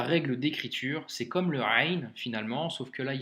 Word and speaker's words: غ: leçon numéro 24 donc la lettre rain se prononce comme le r en français que tu retrouves par exemple dans le mot paris donc c'est le même son cr ça marche et